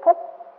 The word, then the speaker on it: phú: Còn cái chữ đó đó mà khi mà có nghĩa che giấu thì ta là đọc là chữ phú. Chữ phú này không phải là chữ phú là giàu có.